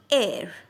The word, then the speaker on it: ere: There must be a new word for you called ERE, pronunciated as air, right? Air.